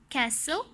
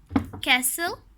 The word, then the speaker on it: castle: Often, castle, listen, whistle. The letter T is silent in these 4 words.